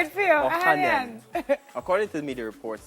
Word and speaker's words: Ohanian: Listen, I can't pronounce the last We part. say it for you, Ohanian.